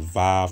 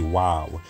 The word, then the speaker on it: Waw: Some people call it Vav or pronounce it Vav, V-A-V. But the correct pronunciation for this character, historically, linguistically, would be Wav.